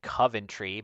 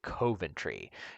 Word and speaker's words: Coventry: Um, I think I said Coventry, but apparently that is incorrect. And you're supposed to say Coventry.